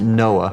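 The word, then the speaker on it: NOAA: Oceanic and Atmospheric Administration we pronounced it Noah we had a program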